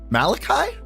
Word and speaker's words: Malachi: big event what you're the first streamer to pronounce my new fee name correctly Malachi really it's a it's a biblical name um